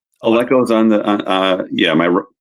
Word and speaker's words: Aleco: Oh, and it's Alco. Did I say it right? Alco is on the uh Yeah, my that's my full name.